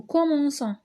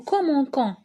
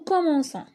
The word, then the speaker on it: commençons: Nous commençons. Eh bien, c'est normal, parce que sinon, on prononcerait nous commençons.